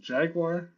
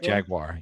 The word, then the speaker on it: Jaguar: Is it Jaguar? What is Jaguar? Don't say wire.